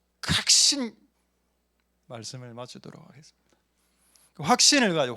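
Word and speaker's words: 確信: 각신. 저는 그 발음을 더 좋아합니다. 더 강하게 느껴지거든요. 확신합니다. 이거하고 각신시마스, 이게 더 각신.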